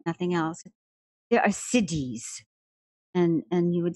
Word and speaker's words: siddhi: There are siddhis, and you would spell it S-I-D-D-H-I, it powers that are in all these different states.